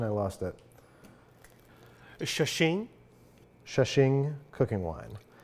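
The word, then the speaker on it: Shaoxing: This is, do you remember the pronunciation? I lost it. Shashing.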